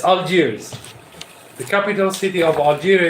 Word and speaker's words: Algiers: It's Algiers.